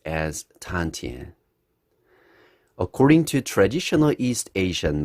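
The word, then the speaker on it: 丹田: you ever hear about tanjan in chinese it's pronounced as tantian according to traditional east asian medicine tanjon is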